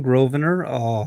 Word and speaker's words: Grosvenor: My name's Grosvenor. The S is silent.